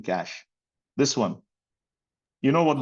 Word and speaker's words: cache: So you can just see c kh like pronunciation cache.